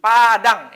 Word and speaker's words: Padang: Ya, Andi thalibun fi jami'ati Padang. Ini walaupun tulisannya Badang tapi membacanya tetap Padang.